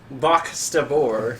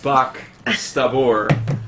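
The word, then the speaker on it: Baq'stabor: How do you pronounce? Bach Stabor. Bach Stabor.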